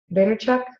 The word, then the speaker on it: Vaynerchuk: Vaynerchuk?